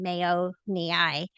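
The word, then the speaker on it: mayonii: This one we called Brellia Mayoni and we named it after the Mayo brothers. So mayo and mayo mi is how you say it.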